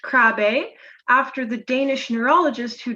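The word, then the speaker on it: Krabbe: in the presentation a lot it looks like crab but it is pronounced crabe after the danish neurologist who discovered it over a hundred years ago in 1916.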